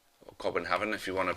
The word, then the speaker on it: Copenhagen: So Charlton actually bought him for £2.5 million from FC Copenhagen, or Copenhagen if you want to pronounce it correctly.